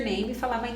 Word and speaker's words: name: falar perguntar what's your name is na verdade Então guarde que a letra e final a gente não vai pronunciar então é neima então a regra é o e é silencioso e gente uma até